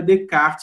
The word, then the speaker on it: Descartes: PC vão aqui que você em francês Não pronunciou essa né então fica de kart mesma hora e lindos